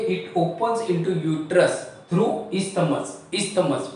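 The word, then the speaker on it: isthmus: ये आपका पार्ट है स्पेलिंग यहां पे एच नहीं आएगा सॉरी तो आई एस टी एच एम यू एस इस्तमस तो प्लीज रिमेंबर कि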